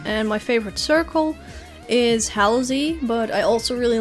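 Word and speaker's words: Halozy: yeah he he usually pronounces that he usually pronounces it as uh halsey but i i suppose you could also say like hollow z but it's not halo z it's halsey so yeah time to decide to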